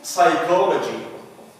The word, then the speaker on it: psychology: And in psychology. Psychology. The B is silent here.